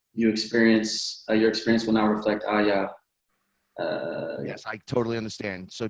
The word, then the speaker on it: Aya: AYA, Aya, is that how you pronounce it? Yes.